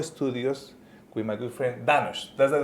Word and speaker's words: Danosch: Hi, welcome to Crypto OGs, and we are today in the Micro Studios with my good friend Danosch. That's the right pronunciation, yeah? Danosch, yeah, perfect. Excellent. Danosch, and I'm learning every day something new.